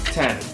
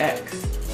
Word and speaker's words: iPhone X: And iPhone 10. Pronounced 10, not X. If you say X, I will kill you.